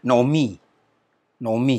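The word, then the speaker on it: נעמי: di sini akan dibaca nomi-nomi Hai Nomi ya jadi kemudian kita kenal namanya Naomi ya tapi dibaca nomi-nomi yang kedua yang kedua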